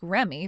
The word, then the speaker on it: Reme: Dale, I was able to ask Remy for her real name and she gave it to me. Oh, seriously? She has it spelled as Reme, but you're supposed to pronounce it as Remy.